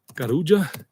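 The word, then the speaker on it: Carulla: Kuja if you ever go to any other Kuja that's how you pronounce it. Anytime you have a double L in Spanish double L you know together it's J not.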